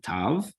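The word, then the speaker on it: תו: After that, we have the final letter of the Hebrew Alef-Bet, which is Tav. Here it is. It gives us a nice t, as in tall sound.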